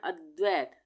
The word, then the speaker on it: अद्वैत: अरिहंत अरिहंत अद्वैत अद्वैत अब यहां पे अद्वैत द पूरा है सॉरी द आधा है यहां पे और व पूरा है यहां पे हम बोल रहे हैं अद्वैत द का उच्चारण आधा आ रहा है और व का पूरा आ रहा है तो ये